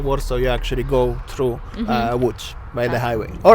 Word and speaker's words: Łódź: And I went to a town called Łódź. Not Lutz, Łódź. People will always mispronounce it.